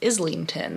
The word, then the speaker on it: Islington: which I found out his name is James Islington that's how it's supposed to be pronounced so I'm on chapter 29 I think